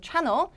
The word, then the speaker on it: channel: 붙어 있는 경우가 있는데 수식어에 다 우선 강세를 주시면 돼요 channel 9 channel 9 채널이 아니고 channel channel 9 weather forecast이 방송 방송